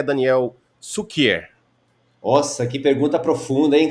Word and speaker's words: Cukier: falou perfeitamente Daniel coqueiro cukier é do polonês e a pronúncia em polonês Sucker aqui no Brasil e que fala com